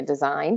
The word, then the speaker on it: design: at the end right like a design doesn't have a G so that's something that